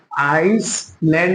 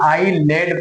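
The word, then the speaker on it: island: तो हम क्या पढ़ेंगे ए जो है हम प्रोनाउंस नहीं करेंगे इसको हम नहीं पढ़ेंगे बल्कि ये हमारा पढ़ा ही नहीं जाएगा आइसलैंड नहीं बल्कि आईलैंड पढ़ेंगे ऐसे ही ए आई एस एल ई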